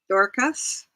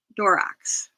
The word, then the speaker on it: Dorcas: And it's not Dorcas, it's Dorax. And there's no X in there.